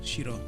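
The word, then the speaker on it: しろ: I think but they are both pronounced shiro.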